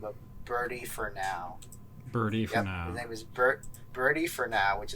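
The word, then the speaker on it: Bertie4now: but it's this gentleman by the name of birdie for now bertie birdie for now which is spelled bertie the number four and just now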